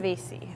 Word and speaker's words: Sangiovese: Sangiovese. Is that how you Yes, pronounce it?